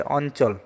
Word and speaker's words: অঞ্চল: যেমন অঞ্চল বানানটিতে ইয় আছে, এখানে ন উচ্চারিত হয়, অঞ্চল।